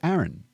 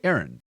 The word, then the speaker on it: Aaron: And then there's Aaron, which is how we say Aaron. Americans say Aaron. same as the girl's name. So you've got blokes named Aaron walking around America getting called by what Aussies considered a Sheila's name.